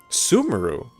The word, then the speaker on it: Sumeru: Sumeru? They pronounce it Sumeru? Like Subaru?